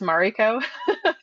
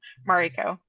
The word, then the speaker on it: Mariko: And just my name is actually pronounced Mariko. Okay, apologies. For everyone's no, everyone's been getting it wrong. So I just thought I'd probably throw that out though. So it's Mariko, like Ma.